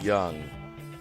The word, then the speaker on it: Jung: Pronounce it young. Pronounce it young.